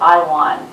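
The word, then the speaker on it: IAWN: astronaut asteroid warning network where we pronounce it i won and there's a website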